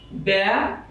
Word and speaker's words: ব্যবস্থা: কিন্তু একটা অ রয়েছে, ব ব উচ্চারণ করতে গেলে একটা অ চলে আসে ব, যার কারণে এখানে উচ্চারণ হবে ব্যবস্থা, এভাবে উচ্চারণ করতে হবে।